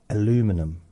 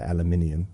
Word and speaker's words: aluminium: Aluminum. We say aluminium, you say aluminum.